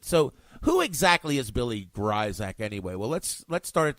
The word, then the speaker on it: Grisack: For those of you that do not know the proper way to pronounce my name, Grisack. Even though it's spelled Grisack, the I is long, the S is pronounced as a Z. I have no idea why. I just inherited it. I did not make it up.